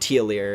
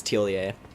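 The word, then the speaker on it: Thiollier: We have Tiolier, which I finally realized that's how you're supposed to say his name. It's not Tiolier, it's Tiolier.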